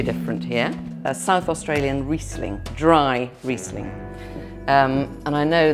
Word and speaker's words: Riesling: I would just like more people to realise that Riesling is A, pronounced Riesling, not Riesling, and B, doesn't have to be sweet.